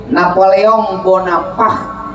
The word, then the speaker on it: Napoleon Bonaparte: Napoleon Bonaparte. Bacanya gitu. Napoleon Bonaparte karena itu bahasa Prancis.